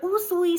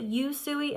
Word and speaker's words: Usui: start with our dear usui Sensei um some people say it yui in fact I think most people say it yui um UI is actually the proper Japanese way of pronouncing his name so I will be